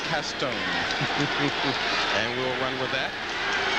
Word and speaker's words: Caston: Toby went down to New Orleans, sort of researched his family roots, and figured out the proper pronunciation of his last name was Castone.